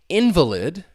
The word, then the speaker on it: invalid: Now, invalid. The stress is on that first syllable. That second syllable has that schwa sound. So invalid.